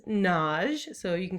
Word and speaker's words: Nagy: a two syllable name nagi but i use the hungarian pronunciation which is naj so you can call